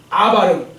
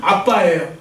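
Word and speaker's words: אבא: 여하튼 저 발음은 뭐라고 그러냐면 아바라고 해요. 아바. 근데 아바라고 하는데 좀 더 된 소리를 해 갖고 정확하게 일반 사람들이 쓰는 발음은 아빠예요.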